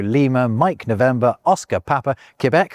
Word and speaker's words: Quebec: Alpha Bravo, Charlie Delta, Echo, Foxtrot, Golf Hotel, India, Juliet, Kilo, Lemur, Mike November, Oscar Papa, Quebec, which was the recommended pronunciation by the way, not Quebec, Romeo, Sierra, Tango Uniform, Victor Whiskey, X-ray Yankee, Zulu.